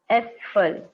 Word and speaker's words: Äpfel: Alright, so this is the umlaut which is pronounced as A. So we can call Äpfel, Äpfel.